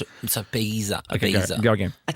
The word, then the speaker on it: Ibiza: It's Ibiza. Okay, Ibiza. go again. I took a pill in Ibiza.